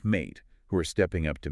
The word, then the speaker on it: MATE: spotlighting our featured solutionist, Mate the Label. And we should probably say upfront, uh, when we say mate, it rhymes with date or late. Good point. Mate the label, not Maddie.